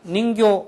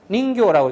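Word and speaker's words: 人魚: 닌교는 인형인데 여기 어미를 없애버리고 짧게 그냥 닌교 이러면은 어떤 의미가 되냐면 사람은 똑같은데요. 뒤에 이게 나와요. 닌교. 그래서 인어공주 할 때 인어공주 할 때 인어를 닌교라고 이렇게 짧게 발음을 하고요.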